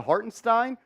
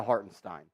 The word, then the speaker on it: Hartenstein: Stein or Haron Stein I have said it both ways but I'm going to say har and Stein going forward because that's how I heard him say his name the other day he calls himself Isaiah hartenstein so therefore I'm going to call him Isaiah hartenstein Julius gets the an